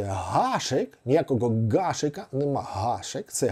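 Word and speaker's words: Гашек: і тому прізвище га гашик Ніякого гашика нема гашик це гашик Ярослав або Домінік гашик великий друг України хокеїст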